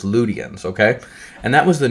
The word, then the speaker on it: Lydians: It's actually Ludians. Like the word the if if there's a Y in the middle of a word, it's pronounced U, not E. Okay. So Lydians is not Lydians. It's Ludians.